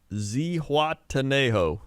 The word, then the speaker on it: Zihuatanejo: kind of want to hear you struggle with pronunciation what was it what did you say it was again zihuatanejo say wataneo is is is that the place